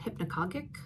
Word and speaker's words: hypnagogic: There's a state called hypnagogic, I believe is how it's pronounced.